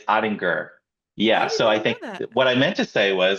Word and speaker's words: Ottinger: on set together that your name is not pronounced adding jur it's adding G correct yes I did not know that that's okay most people don't how do you say it again it's it's ainger yeah so I think what I meant to